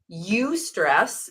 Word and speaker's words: eustress: So there's eustress. It's spelled EU stress.